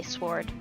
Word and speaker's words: sword: pronounced so why not why put a w in the middle of a word or at the end of word if it's not going to be pronounced say yes word drawing